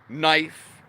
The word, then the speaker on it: knife: Knife has a K as a letter. But it's not pronounced.